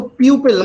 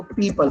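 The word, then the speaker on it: people: इसको प्यूपल मत पढ़ा करो, इसको पीपल पढ़ते हैं। पीपल का पेड़ होता है ना, यही उच्चारण होता है इसका, पीपल।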